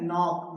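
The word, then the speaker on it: knock: है जो के है वो क्या है साइलेंट है क्यों क्योंकि एन से पहले आया है और यहां बोल क्या रहे है नोक नॉक है ना नोक नक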